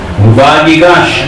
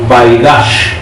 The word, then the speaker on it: Vayigash: Vayigash, nosotros podemos pronunciarla de esa manera. Yo he escuchado a judíos que la pronuncian como Vayigash.